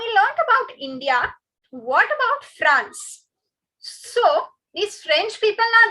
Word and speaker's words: France: The pronunciation goes France. France.